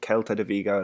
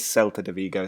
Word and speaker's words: Celta de Vigo: Somebody pointed out that I said Celta de Vigo last time. It is Celta de Vigo, so continue to point those out.